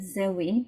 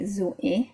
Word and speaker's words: Zoé: In English, you know the name Zoe, but it's actually Zoé from French.